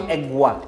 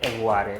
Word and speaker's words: Egware: It's the so it's not Egwa, Okay. it's Egg. We So got it. you have to put the pizzazz in it, so it's Egg to make it Egware.